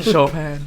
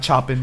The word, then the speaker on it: Chopin: Chopin, not chopping like everybody. says. Choplin.